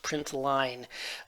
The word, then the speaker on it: println: the equivalent to console.log which is just println or i usually pronounce it printline for testing so just